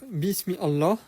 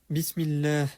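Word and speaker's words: بسم الله: Et donc au lieu de dire bismi Allah tout détaché, on dira bismillah sans prononcer le alif parce que comme je t'ai dit, il n'est pas en début de phrase.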